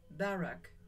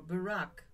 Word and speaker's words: Barak: Deborah and Barak, or Barak, whatever you will pronounce it, joined in a song that has echoes of Moses and the people of Israel by the Red Sea.